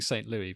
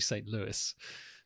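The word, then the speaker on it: St. Louis: funny enough St Louie which I'm calling St Louie because that's the French pronunciation but it's actually St Louis so apologies to Americans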